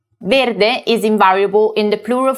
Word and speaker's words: verde: that's because the adjective verde green is invariable and always ends with the letter e pronounced a regardless of whether it refers to a masculine or a feminine noun and if i wanted